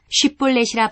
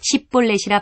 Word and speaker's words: 쉽볼렛: 그가 만일 아니라 하면 그에게 이르기를 쉽볼렛이라 발음하라 하여 에브라임 사람이 그렇게 바로 말하지 못하고 십볼렛이라 발음하면 길르앗 사람이 곧 그를 잡아서 요단강 나루턱에서 죽였더라.